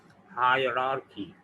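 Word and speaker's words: hierarchy: ये बज़ाहिर तो हायरार्की लिखा है, लेकिन इसका सही प्रोनाउंसिएशन ब्रिटिश इंग्लिश में है हायरार्की। मैं जैसे बोल रहा हूँ ऐसे ही, हायरार्की, हायरार्की, हायरार्की। इसको लोग हायरार्की और हायरार्की और पता नहीं क्या क्या बोल रहे होते हैं।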